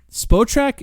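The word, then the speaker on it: Spotrac: By the way, one thing I will mention, if you're trying to come up with fake trades, spot track, that's how you pronounce that word.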